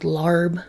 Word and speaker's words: larb: can sometimes it's called lob sometimes it's called larb i think there's a few other pronunciations too but basically it's